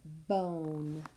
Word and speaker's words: bone: Don't forget that silent E at the end. Please write bone on the side. B. O. Silent E, making that vowel say its long vowel sound.